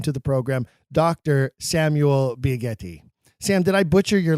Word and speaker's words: Biagetti: It's just Biaghetti. Oh, see, I'm Italian and I should know that. So shame on me. It's a hard G sound there. Just like the word jetty.